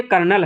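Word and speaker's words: colonel: जैसे लेफ्टिनेंट में एफ नहीं मिल पा रहा वैसे कर्नल में कर्नल की स्पेलिंग तो बिल्कुल अजीब सी है। सी ओ एल ओ एन ई L. Friends यह कर्नल है।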